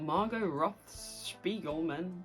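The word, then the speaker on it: Margo Roth Spiegelman: The thing about Margot Roth-Spiegelman, that's how you say it, is that really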